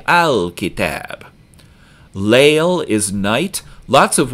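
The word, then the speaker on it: الكتاب: A kitab is a book, and you pronounce ka back in your mouth, so we say al-kitab.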